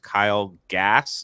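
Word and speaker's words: Kyle Gass: immediate deportation of Tenacious D uh after guitarist Kyle gas is that how you say his name yeah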